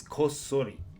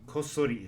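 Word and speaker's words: こっそり: number four is kosori kosori is stealthily or secretly no kanji here just hiragana kosori is stealthily or secretly remember that chi sai tu means we pause for a bit before we pronounce so is stealthily or secretly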